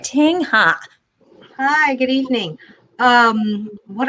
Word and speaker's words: Thanhha: awesome thank you donna and welcome all right ting ha hi good evening um what i do basically is i pronounce my name for people that is my